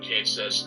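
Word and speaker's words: Cait Sith: It's actually Cat-She, but that's only if you're referring directly to the specific creature of legend. The character in Final Fantasy VII, as per Square Enix, is Kate Sith. That's also the same pronunciation you have for the character in 14.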